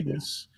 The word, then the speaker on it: Venis: a porn star, and his name was technically. Venus. When you take it, but it was spelled Venis.